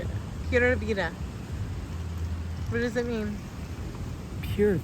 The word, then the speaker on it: Pura vida: Pura vida.